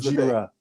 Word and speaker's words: Gojira: It sounds like an Asian guy saying Godzilla. That's the point. That's how. Yeah. Oh, that's what it how is? Asian people pronounce. Okay. Godzilla. Yeah. that is Gojira.